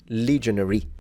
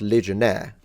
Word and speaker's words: legionary: appreciate cuz I learn legionary not legionaire it's a there's a difference in English these are legionaries would